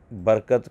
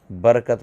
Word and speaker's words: برکت: کیونکہ غلط العام فصیح، جیسے اردو میں عظمت کی غا، برکت کی را اور رمضان کی میم پر زبر ہے، ٹھیک ہے، مگر لوگ ان تینوں یعنی غا، را اور میم کو ساکن کر کے پڑھتے ہیں، عظمت پڑھتے ہیں، رمضان پڑھتے ہیں، ٹھیک ہے، اور برکت پڑھتے ہیں، برکت، حالانکہ عظمت ہے، برکت ہے اور رمضان ہے، ٹھیک ہے، لیکن لوگ